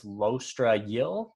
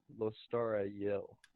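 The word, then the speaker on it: Lostara Yil: that person immediately kills shaykh her name is lostra yill in case you were wondering and narrator of the audiobook who is obviously the ultimate authority on all things pronunciation pronounces her name lostara yell yeah i forgot the t i'm sorry anyway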